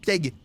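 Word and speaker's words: pieg: Piègue, ça s'écrit P-I-E-G. Piègue, piègue, ça se dit comme ça.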